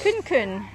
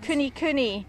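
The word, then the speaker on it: kunekune: Kun-kun. Kun-kun pig. They're placid and friendly and love human contact. Oh, they're the pigs that I like. Oh no, it's actually pronounced kuni-kuni. Means fat and round in Maori.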